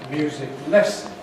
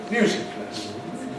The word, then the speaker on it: music lesson: Because what happens is that the first element is treated as stronger and the second element as weaker. So we don't say music lesson, we say music lesson, music lesson, music lesson, music lesson. Many Japanese learners of English don't know this and don't do this. It's difficult because the spelling doesn't tell you.